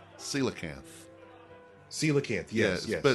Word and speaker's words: coelacanth: Okay, so I found out it's not coelacanth or whatever else. It's coelacanth. Coelacanth, yes. But it's spelled Coelacanth.